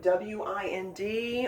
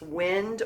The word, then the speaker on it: wind: You're going to see the word W-I-N-D on one of your worksheets in phonics, and be aware that it can be pronounced wind or wind.